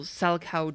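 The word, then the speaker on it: Salchow: Oh, so she gets an additional Salcow jump. I think it's pronounced Salcow actually. Let me double check just in case. It is Salcow. Some people say Salco, but I say Salcow.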